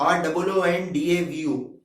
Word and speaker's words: rendezvous: तो रॉन्डवू वर्ड, उसकी स्पेलिंग है RENDEZVOUS, but English is a funny language, it is pronounced as रॉन्डवू, ROONDAVU।